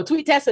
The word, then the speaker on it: Tweetessa: Mighty, thank you so much for gift subbing Tweetessa. Excuse me. How do you say it? No, Tweet Tessa is right.